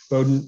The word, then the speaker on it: Bowdoin: hearing the the word bowdoin for the very first time bowdoin rhymes with exploding we've all had to